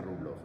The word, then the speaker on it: Rublev: de la Trinidad de Rublov, ¿no? Rublev, bueno, Rublov, ¿no? En ruso queda más contundente con la O. Se escribe Rublev, pero se pronuncia Rublov.